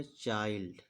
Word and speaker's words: चाइल्ड: इसको देखिए ये सी एच है यानी कि चा रहेगा और आ की मात्रा चा में लगाएंगे हम और आई एल डी यानी आई को हम आई से पढ़े थे, आ की मात्रा इसमें लगा दी। ई को यहाँ लिखेंगे और एल को मैं आधा ला मानूंगा और डी है तो यहाँ पर डा रहेगा। एल का मतलब आधा ला। क्या लिख गया चाइल्ड।